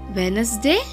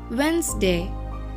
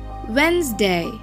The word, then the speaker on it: Wednesday: monday it's not monday it's monday tuesday tuesday wednesday is it correct no it should be pronounced as wednesday wednesday thursday thursday when you say thursday you have